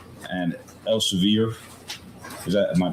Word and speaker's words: Elsevier: And Elsevier, is that am I pronouncing that right?